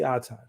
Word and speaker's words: Otton: for hire uh OurTime did I pronounce it correctly yes uh and just like cotton okay great how you